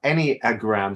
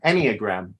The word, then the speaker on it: Enneagram: m e a but how we pronounce it is any as in any old any old iron um any any uh any a gram so any a gram Enneagram any a gram so